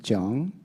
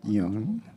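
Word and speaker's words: Jung: Actually, it's John, not Young. Sorry. It's okay. John. Yeah, that. German pronunciation. Yes, that's right. Yeah, European pronunciation.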